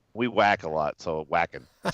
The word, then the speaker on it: Wacken: or higher you know I guess I've been mispronouncing it's walking correct that is walking fists up walking somebody